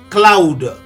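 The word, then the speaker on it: Khloud: Pour votre information, la société secrète de Chloé Kardaschan s'appelle Cloud. À votre attention, Cloud s'écrit K H L O U D.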